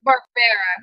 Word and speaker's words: Barbera: It is pronounced Barbera, right? Barbera.